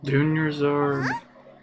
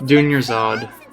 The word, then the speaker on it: Dunyazad: Dunyazard. Oh, it's been a while. How are you doing? Dunyazad! It's Dunyazad.